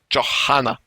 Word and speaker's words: Johanna: team Rhaegar and Johanna Johanna i'm told that is pronounced like that she'll be probably called